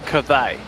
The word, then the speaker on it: Cthaeh: So we've been told in Twitch chat it's Cathay.